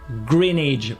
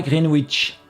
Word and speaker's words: Greenwich: son célèbre méridien bridge ça se prononce en anglais greenedge pas greenwich freinage je sais ça fait